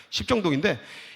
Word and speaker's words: 십정동: 발음 잘해야 돼. 십정동인데 이게 한국말로 여름물이야.